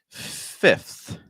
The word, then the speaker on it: fifth: is going to be fifth fifth so for fifth we're gonna have a short I sounds like e do this with me